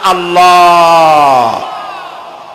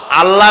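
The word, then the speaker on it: الله: জমিনের দিকে আল্লাহর নাম আল্লাহ বলেন তো আল্লাহ আল্লাহ নয় কিন্তু আল্লাহ হচ্ছে অশুদ্ধ শুদ্ধ হচ্ছে আল্লাহ বলার সময় মুখটা গোল হয়ে যাবে বলেন তো সবাই উচ্চারণ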